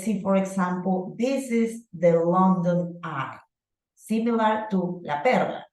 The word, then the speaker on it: London Eye: The London Eye. Okay, so Marjorie, which one do you think is the stressed syllable? Long. Long, right? The London Eye, correct.